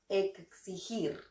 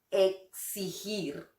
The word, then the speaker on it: exigir: Querido muchachón, para pronunciar bien esta palabra, solo imagina que se escribe de esta manera. Exigir. Hazlo así y todo estará bien y tendrás una pronunciación de lujo. Exigir.